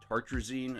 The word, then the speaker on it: tartrazine: the chemical name is tartrazine I believe is how you pronounce it man there's going to